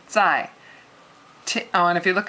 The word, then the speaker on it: 在: 在 means at. I've written that up there. At, and it's a fourth tone. And fourth tone is, it sounds like you're yelling at somebody really short.